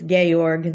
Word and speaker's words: Georg: well, I think it's Georg. That's the way I pronounced it anyway when I was writing it.